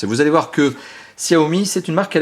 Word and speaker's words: Xiaomi: long de cette vidéo en chinois on dit Xiaomi mais ça s'écrit Xiaomi avec un X donc on va faire